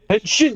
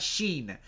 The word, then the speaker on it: Henshin: Yeah, shin like your shin. Henshin like shin shin. Like your shin. Yeah, exactly not sheen, but he pronounces it sheen Henshin and I'm like, "Oh my god, you're mispronouncing it wrong."